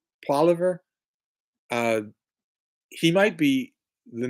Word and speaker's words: Poilievre: Poilievre. Poilievre.